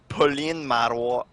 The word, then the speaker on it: Pauline Marois: Pauline Marois. Just sounds nuts. I know it does. All right, now say it very. Her last name sounds like Narwhal.